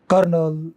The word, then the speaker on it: colonel: वो ल्यूटिनेंट कहते हो, कर्नल, ल्यूटिनेंट। ब्रिटिश लोग कर्नल बोलते हैं, अमेरिकन लोग कर्नल बोलते हैं, रे को बोलते हैं। जबकि रे आर होता ही नहीं स्पेलिंग में।